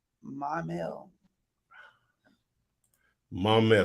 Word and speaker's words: Maumelle: going outside we answered that from Michael um my mail Katie Coy was asking about Maumelle Arkansas and